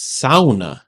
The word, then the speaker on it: sauna: I'm like where's Finland and it's it's actually pronounced SAA that's weird and uh and you you are